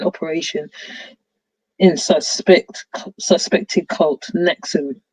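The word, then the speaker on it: NXIVM: in suspect suspected cult nexum pronounced enxim the group started as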